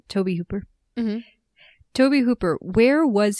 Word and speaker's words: Tobe Hooper: Tobe Tobe Hooper. That's how you pronounce his name. Tobe Hooper.